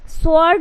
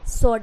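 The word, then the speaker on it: sword: से स्वर्ड हो जाएगा अगर इसको पढ़ोगे सो वर्ड हो जाएगा सो वड मतलब कि सो एंड वड इस तरीके से अगर पढ़ोगे जब डब्लू अगर साइलेंट हो जाएगा यहां पर तो क्या पढ़ोगे सर्ड क्या है ये है सोड इसको इस तरीके से उच्चारण जो है नहीं करना है ये हो जाएगा गाइस सोड डबल ओ के आर से पहले आर से पहले डब्लू साइलेंट होता है क्या है आर से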